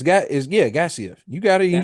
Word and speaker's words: Gaziev: Yeah, it's got is yeah, Gaziev.